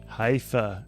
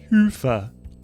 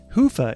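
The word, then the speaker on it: Hyvä: Commerce talk Commerce is sponsored by hia or as the Europeans say Hua or the right way to say it hoofa is rapidly becoming the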